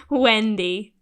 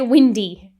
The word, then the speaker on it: Wendy: So, listeners, Claire doesn't know how to say the word Wendy. Try again. Wendy. You say Windy.